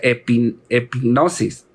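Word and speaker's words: ἐπίγνωσις: superior profundo esta palabra en griego es se pronuncia epping hipnosis eso es lo que lo que significa epic gnosis es un conocimiento hermanos del cual nos habla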